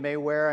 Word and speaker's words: Mayware: My name's not pronounced the way it's spelled. It's Mayware. I may wear a hat, I may wear a glove.